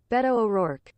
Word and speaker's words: Beto O'Rourke: How to pronounce Beto O'Rourke. Beto O'Rourke. Okay, that's what Google says. Did you guys hear Google? Beto O'Rourke.